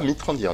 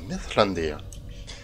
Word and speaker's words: Mithrandir: Par contre, j'ai découvert sur je ne sais plus quel site internet que pour dire Mithrandir, on dit pas Mithrandir, on dit Mithlandir.